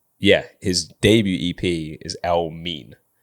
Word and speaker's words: Elmiene: so I missed that which was Elme um spelled E L- M E A N so he was already telling people how to say his name from early basically